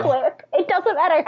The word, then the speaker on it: Quip: It's pronounced Quip.